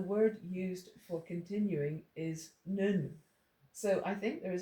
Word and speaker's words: nun: Now, I've written nun up beside it because it's pronounced nun, not none.